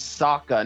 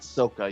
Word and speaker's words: Sokka: yep by the way it's saka not sokka you son of a